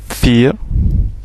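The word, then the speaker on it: vier: 2, 3, 4, le V se prononce F, 4, 5 pour 5, 6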